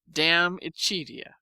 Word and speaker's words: De Amicitia: We've finished Livy and De Senectute, and are now engaged with De Amicitia, pronounced Damicitia.